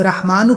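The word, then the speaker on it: رحمانُ: یا رحمانو پڑھنا ہے۔ اب رحمانو کے اوپر زبر ہے، رحمانو میں ایک ایک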